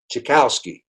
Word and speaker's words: Tchaikowski: like like dave dave tchaikowski and he says uh and for those of you that can't spell that's chicken on a cow and a cow can't ski tchaikowski you got it he